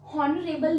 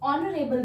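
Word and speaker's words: honorable: हो रहा है, मतलब इसको आप हॉनरेबल नहीं बोलते हो, इसको आप ऑनरेबल बोलते हो, और ओ साउंड आपका एक वाउल साउंड है, तो इसीलिए आप यहाँ पे एन का यूज कर रहे हो।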